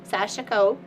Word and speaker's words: Sashiko: So this is her a little adventure on uh stitch a new sasho and that's how you say it. Sash like the s a sh and then ieko sashako uh every day of the year.